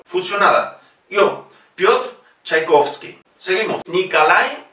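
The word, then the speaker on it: Николай: Nikolai, fíjese que la O no lleva acento, por lo tanto pronunciamos A. Nikolai Rimsky-Korsakov.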